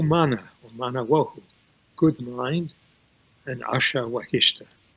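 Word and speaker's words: Asha Vahishta: Wahumana, or Mana Wahu, good mind, and Asha Wahishta. I'll call it Ata Wahishta, Artha Wahishta, the older pronunciation.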